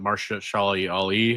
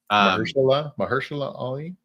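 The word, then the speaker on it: Mahershala Ali: Yeah, he I mean that's what I am terrible at pronouncing his name, but Marsha Ali, right? Mahersula Ali.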